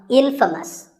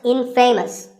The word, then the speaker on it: infamous: you might just become infamous this word is the opposite of famous and it means famous for something bad but it's not pronounced in famous it's pronounced infamous all right i hope